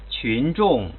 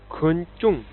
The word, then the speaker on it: 群众: The correct pronunciation is 群众 A lot of people pronounce the first character wrong like 昆众 Pay attention to 群 because the spelling QU looks like queen.